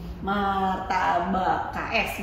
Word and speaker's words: MarTaBaKS: Martabak KS, bacanya gitu ya.